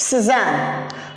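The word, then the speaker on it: Cézanne: Suzanne, you can say like that, Suzanne.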